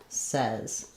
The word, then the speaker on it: says: did you say says when we say it says, he says, she says, we no longer use that ay pronunciation that we do in I say, you say, etc. So, it's really confusing. The spelling looks like says, but it changes to the e vowel says.